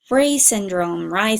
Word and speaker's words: Reye: Reye Syndrome, actually, it rhymes with I.